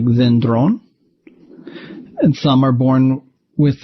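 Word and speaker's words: δένδρον: Some are born with an accent on their penult, like dendron.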